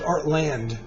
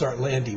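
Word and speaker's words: Art Lande: I thought it was Artland, silent E, but it's Artlandy with the E.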